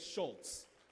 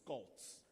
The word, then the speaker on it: Skoltz: I almost said Schultz, but I'm told the correct pronunciation of it is Skoltz.